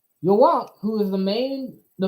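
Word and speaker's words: Yhwach: known as y or Yak okay that is the German pronunciation for Yahweh yok who is the main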